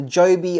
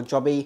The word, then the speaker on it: Joby: culprit this is the Joby wo Pro I think I'm saying it right Joby or jobby I'm going to say it's Joby this is the broke